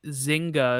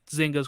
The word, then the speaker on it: Zynga: Take Two Interactive bought Zynga. If I said that right, I don't know how to say it. That is correct. Zynga is the correct They are pronunciation.